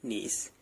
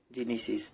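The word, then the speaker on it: gneiss: नीस, जिनीसिस। ठीक है, जिनीसिस कैसे प्रोनाउंस करते हैं? ये जिनीसिस हमारा नीस जो होता है ना, वो हमारी मेटामॉस्फेरिक रॉक होती है।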